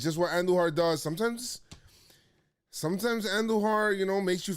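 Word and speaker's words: Andújar: And it's really nice and refreshing when you got a guy like Andujar, you roll your R's for, and he is hitting.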